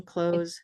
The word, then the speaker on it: clothes: So the second one, clothes, and the last one, close the door, are the same in pronunciation? They Because are. the th are missing. We are just pronouncing it same. Exactly.